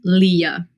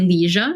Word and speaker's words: Lija: nickname is call me Leah so it's not call me Liah I think like most of the people confuse it by that pronouncing it like that it's like Leah with J so yeah okay what